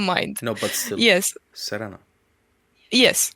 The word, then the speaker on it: Serena: yeah, that Serena is the English pronunciation, right? Serena is the Romanian one, and then you have Serena, which is kind of, I don't know if I'm pronouncing it very well, but that's close to the Dutch pronunciation of it.